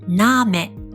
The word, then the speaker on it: Name: 例えばを意味するこの単語は車を意味するこの単語はアウト名前を意味するこの単語はナームと発音します。